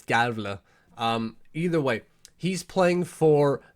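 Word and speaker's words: Gävle: From there, we move up north to Galve. I always mispronounce the name where Alex Lundkrantz plays, Gavle.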